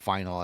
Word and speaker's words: final: And just FYI for everybody, it's final. Stanley Cup final. There's no S to it. I've heard it pronounced that way. And even I, as a non-hockey fan, know that that's incorrect.